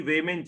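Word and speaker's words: weighment: हमारा देसी प्रोनाउंसिएशन वेटमेंट है, बाकी वेमेंट चार्जेस ऐसा बोलते हैं, है ना।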